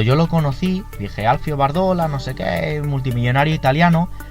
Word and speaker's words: Bardolla: Alfio Bardola como Alfio Bardolla. O sea, realmente se escribe Alfio Bardolla, pero al ser italiano creo que se pronuncia Bardola.